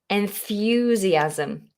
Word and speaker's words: enthusiasm: the word enthusiasm enthusiasm that wonderful th you have to get the tongue between the teeth now we have an n e n n is normally pronounced with the tip of the tongue on the alveolar ridge which is just behind your top teeth for your l's your d your t your tongue tip will touch that space it's